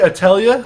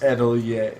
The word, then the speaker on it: atelier: Atelier. Atelier. It doesn't spell. There's more letters in how it's pronounced than it's spelled.